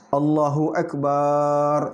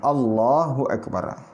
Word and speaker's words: Allahu Akbar: Allahu Akbar, salah. Yang benar cuma satu saja. Cuma lamnya yang panjang. Allahu Akbar.